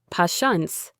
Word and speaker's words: patients: The interesting word here is patience. Pay attention to the first t. It makes a sound. Pashants patience.